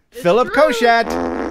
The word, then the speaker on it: Philip Koshat: That's how you pronounce his name. Philip Koshat.